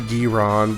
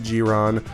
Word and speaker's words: Jiron: cuz I feel like if you spell it with a G it might you might think it's pronounced giron but no it's gron but yeah obviously I